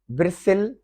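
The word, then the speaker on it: bristle: ब्रिसिल, T silent है।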